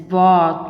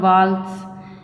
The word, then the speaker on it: walk: And it is walk, not waltz. It walks because L is silent here.